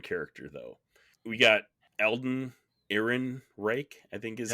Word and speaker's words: Ehrenreich: We got Eldon Ehrenreich, I think is how you pronounce his name, as Zeke Stain.